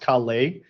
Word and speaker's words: Calais: I've never been to, I think it's pronounced Calais in France, and there's like a very big aquarium.